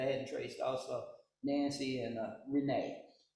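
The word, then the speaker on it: Rena: And Mariah had two sisters that I hadn't traced also, Nancy and Renee. I think it's pronounced Renee, spelled R-E-N-A.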